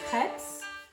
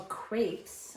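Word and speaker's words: crêpes: Today we're going to make crepes or crepes as Americans pronounce them, and it's based on the book Crepes by Suzette that I'm going to read to you too.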